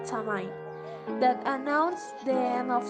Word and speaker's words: Samhain: in the ancient Celtic festival known as Samhain, pronounced Samhain, which means end of summer, and was celebrated